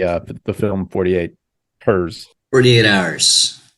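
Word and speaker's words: 48 Hrs.: 48 hers 48 hours it's not called 48 Hours HRS period and Wikipedia is very clear to set out that that is pronounced 48 hours that it is in fact 48 Hours not four years yes it's not pronounced 48 Harris or or something I don't know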